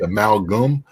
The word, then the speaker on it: amalgam: Amalgam, maybe. Amalgam? No, hold on. Is it? I think I threw in an extra syllable there. I think it's amalgam.